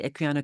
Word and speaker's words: Equiano: The Equiano, the cable, is Mhm. that how to pronounce it? Yes. Okay, so the Equiano cable.